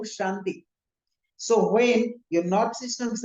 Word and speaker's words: Shanti: When you're chanting Om Namah Shivaya, we say Shivaya, Shivaya, we say Santi Santi, no, Om Shanti.